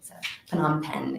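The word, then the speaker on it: Phnom Penh: me a while to learn if this correctly PanAm pen is the capital city and that's where the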